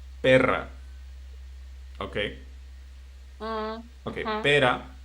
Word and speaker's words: perra: We have two words, pera y perra.